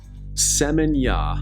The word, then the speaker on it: Seminyak: Seminyak. I'm saying that right, aren't I? I think so. The K is silent, like night with a K.